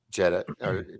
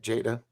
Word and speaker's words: Jada: jane reference of course jetta jane how do you say it jada jada does that you